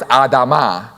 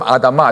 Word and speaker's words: Adamah: is Adam, and then the word for ground is Adamah. It's literally just a syllable at the end. So you take the away and you get Adam. Adam was made from Adamah.